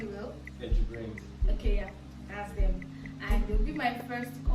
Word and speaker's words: Jibrin: Did I pronounce it well? Yeah, JIBRIN'S.